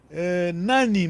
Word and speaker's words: nani: Nani, mas a tonalidade tem que ser nani, tá bem? Nani. Porque a língua, a língua de tonalidade mesmo, o sentido sai a partir da tua pronúncia.